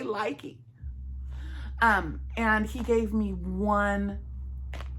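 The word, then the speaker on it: Lykke: I was gifted one from, well, I actually won it with my, oh shoot, Granny D said I was pronouncing it wrong. Luca, she calls them Luca, but I likey my likeys, L-Y-K-K-E.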